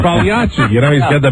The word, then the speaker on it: Pagliacci: he's like, And isn't he wearing like a Pagliacci suit? Yeah, no, you said it right, a clown suit. Yeah, like Pagliacci.